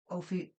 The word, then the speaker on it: Auger: They got the path of the serpent there and how um you travel through the tree of life and then in the back is about the author Michael A pronounces his last name O.